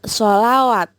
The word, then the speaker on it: selawat: Napas, salat, selawat, tulisannya tapi bacanya tetap sholawat.